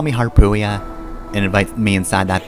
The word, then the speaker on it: Harpuia: It's Harpuia, but I always pronounced it hyper. I guess my child brain just like that more. Like it's supposed to be a play on harpy, but like I always